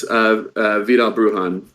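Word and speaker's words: Vidal Bruján: Yeah, no, it is in fact Vidal Brujan.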